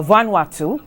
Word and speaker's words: Vanuatu: the background of what happened with vanu uh vanatu uh to to get the pronunciation correct they had been working with the